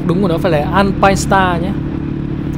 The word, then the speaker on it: Alpinestars: Tôi thấy nhiều người đọc là Alpinesta, nhưng mà đọc đúng của nó phải là Alpine Star nhé. Alpine Stars. Và nó có chữ S chứ không phải là chữ T ở cuối.